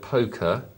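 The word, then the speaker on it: poque: crash flux has emailed us in to say poker took its name from the word Pock pronounced poke so I've been pronouncing it wrong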